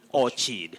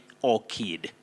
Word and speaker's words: orchard: about the word orchard many people think of orchard than say or cheat which is not the case you say or kid yes thanks for that